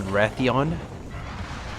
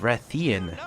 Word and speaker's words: Rathian: You know, for the longest time I've called this thing a Rathion. It's pronounced Rathian, not Eon.